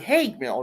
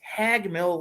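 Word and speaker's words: Haig Mill: it wrong so it's it's spelled h-a-i-g m-i-l-l like it smells like hey Mill right but no it's hagmill Lake and that's what the people Dalton like to call it and that's what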